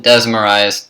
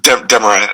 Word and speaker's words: Desmarais: Please welcome Desmarais to the podcast. How are you doing today? Good, man. Oh no, Desmarais is the name. I know it comes across real Greek, but it's French.